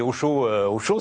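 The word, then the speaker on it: Hosho: Alors, Osho, c'est Osho, sauf que ça s'écrit H-O-S-H-O.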